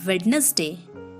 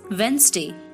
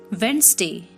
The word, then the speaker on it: Wednesday: hotel hotel next word is wednesday it's not wednesday it's wednesday wednesday i plan a birthday party for my sister